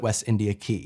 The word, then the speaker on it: West India Quay: dockins maybe make sure you pronounce it West India key and if the queen